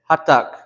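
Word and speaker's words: hattak: You hear how it says hot tuck. I hear a lot of people sometimes they'll say it like this. They'll say hatak. Hatak. You hear the difference? Hatak versus hatak. Hatak. Hatak. We don't want to say it like this. There's double consonants for a reason.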